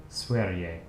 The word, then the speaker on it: Sverige: It's pronounced Sverige. I don't know any Swedish, so let's find out. Sverige.